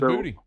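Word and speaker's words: Boutte: I loved talking to Kayshawn last week, who told me that he pronounces his name Booty. That was interesting to me. He says Booty.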